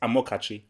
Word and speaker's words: Amokachi: It's Amokachi.